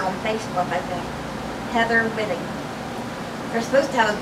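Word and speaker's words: Whiting: I really spell her last name, so I'm not sure how to pronounce it. I pronounce it Whitting.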